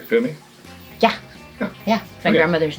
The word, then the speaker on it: Fumi: lena underscore f-u-m-i did i say it right femi yeah yeah my grandmother's name my middle name